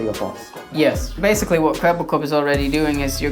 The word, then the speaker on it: Kwebbelkop: I think I'm pronouncing that right. Yeah, no, it's perfect. Okay, so for people that don't know, Kwebbelkop is like a reacts YouTuber, does a lot